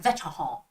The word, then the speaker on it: vétéran: It's like vétéran. veteran. This is how you say it in French. I'm not like 100% like perfectly correct, but veteran, because they don't make that R sound, right?